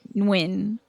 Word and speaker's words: Nguyen: I know some folks with the last name Nguyen. And I know some folks that pronounce it with the N first, and some folks that pronounce it with the W first, like winning.